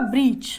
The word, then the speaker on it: brooch: Right answer होगा ब्रीच।